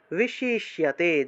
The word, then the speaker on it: বিশিষ্যতে: বিশিষ্যতে, জফলা আছে, জফলা থাকে শিয় উচ্চারণ হবে, শিয়, বিশিষ্যতে, বিশিষ্যতে।